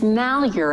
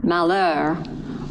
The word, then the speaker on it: Malheur: not Oregon and it's mal you're out here not the French pronunciation Malheur although the French trappers